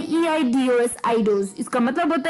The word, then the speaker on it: eidos: पहले स्पेलिंग बात कर लेते हैं, EIDOS आइडोस।